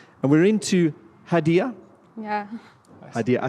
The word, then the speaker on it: Haidy: Haidy, I say it right, eh?